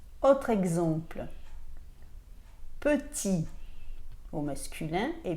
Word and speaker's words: petit: ่ ะ Autre exemple, petit au masculin et petite au féminin. Donc au masculin, petit s'écrit P-E-T-I-T et vous ne prononcez pas le T de la fin.